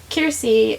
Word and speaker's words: Kiersey: I was wondering how you say her name, because I've been pronouncing it Kiersey, but someone just asked her name, and she said, "My name is Kiersey," and then the other person asked, "Is that short for Kristen?"